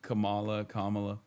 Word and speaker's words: Kamala: That is how you say Kamala.